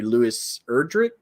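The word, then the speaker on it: Louise Erdrich: I think she may own about every Louis Erdrich, is how you say it.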